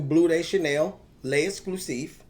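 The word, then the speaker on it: Bleu de Chanel L'Exclusif: Now, today I'm going to do a full review on the new Blue Day Chanel le exclusive. Yep, that's exactly how you say it.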